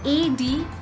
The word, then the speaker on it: advise: Now this advice with S, A-D-V-I-S-E.